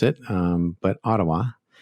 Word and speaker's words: Ottawa: and uh and not otawa some people like to pronounce it um but ottawa that's how the canadians pronounce it and what shopify has